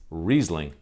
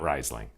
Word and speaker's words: Riesling: the actual wine itself so it's Riesling not Riesling I guess that's gonna